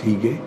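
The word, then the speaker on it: hygge: he gained its hu GG II but it's pronounced he gay which means coziness and the second term is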